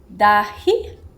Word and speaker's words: dahi: To do so, we need basically the ingredients that are here, a couple of masala spice, the dahi. Did I pronounce it correctly?